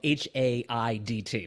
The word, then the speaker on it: Haidt: His name is spelled H-A-I-D-T, not H-A-T-E, by the way.